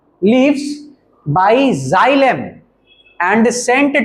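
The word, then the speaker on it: xylem: The leafs and Saint to the leafs bye जाइलम। And Saint to the leafs bye जाइलम। देखो board पे spelling लिखा हुआ है।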